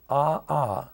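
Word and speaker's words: ʻaʻā: like cindery or Chun chinery lava that's called AA a apostrophe a it's very difficult to walk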